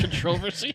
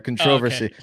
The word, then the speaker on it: controversy: was thick uh rumors the controversy that's how they say it over there controversy but the rumors um